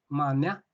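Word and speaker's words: manea: The accent is on the second syllable, mania, and the plural version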